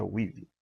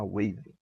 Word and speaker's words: Weave: Exatamente, pronuncia-se Weave, não é Wave.